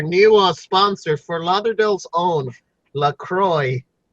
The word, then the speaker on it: LaCroix: sponsor for Lauderdale's own Lacroix its flavored club soda basically it has an X at the end but you don't pronounce that and